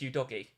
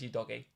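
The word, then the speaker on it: Udogie: about Destiny you doggy because you're not doggy it's you doggy it's 100 how you say it's your doggy chat let me know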